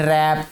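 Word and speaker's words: wrap: some words have initial consonants which are not pronounced, जिनको बोला नहीं जाता, जैसे एच है इन ऑनेस्ट, डब्ल्यू है इन रैप, के है इन knock, we पुट the article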